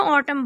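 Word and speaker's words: autumn: यहाँ पे N silent है, तो खिज़ां को हम इंग्लिश में ऑटम बोलते हैं।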